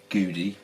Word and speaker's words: Gudi: see what the quality was like with this Judy that's the right pronunciation they don't do a huge range it's